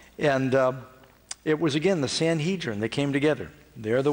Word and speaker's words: Sanhedrin: Now, there was one time, typically, when the Sanhedrin, sometimes I've heard it pronounced Sanhedrin, when they want to try somebody, they could try a person.